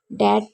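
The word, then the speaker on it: debt: B silent रहता है ध्यान से देखिए कि अगर एम के बाद बी यानी कि एम के बाद बी और बी के बाद टी हो तो बी को साइलेंट लगा जाता है जैसे डाउट में हम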